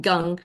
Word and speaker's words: gong: force Essence Gung and it's spelled gong but it's pronounced Gung cheek Gung is the